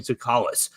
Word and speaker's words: Tsoukalas: And with that, we welcome our friend, Tony Tsoukalas. You follow him on the Twitter machine already at Tony_Tsoukalas. The T is silent.